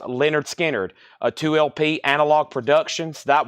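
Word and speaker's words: Lynyrd Skynyrd: a Mofi 2lp and we have Leonard skinnard pronounced Leonard skinnard a 2lp analog production that would be an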